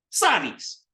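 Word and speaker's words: साड़ी: But it's sari in Hindi, which I can't remember if it's a long A or not, but it would be spelled like this. Sari. Sari. So that's a da. So it's a ra and a da. It's a ra that sounds like a da.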